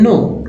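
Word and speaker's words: know: लग गया स्लो अब के एन में के साइलेंट है एन लग गया तो नो लेकिन लिखना के डबल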